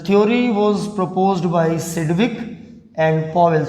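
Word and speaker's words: Sidgwick: The theory was proposed by सिडविक and Powell. थोड़ा सिडविक इसको पढ़ते हैं, थोड़ा स्पेलिंग पे ध्यान देना। SID के बाद G भी आता है, सिडविक एंड पॉवेल।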